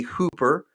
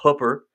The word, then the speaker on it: Hooper: Um, people say Hooper, but my wife will correct me. It's Hooper. She's born and raised here, so I have to say it Right.